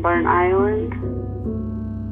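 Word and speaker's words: Burntisland: cultural filament in Burnt Island. A place that's written as one word but pronounced as two.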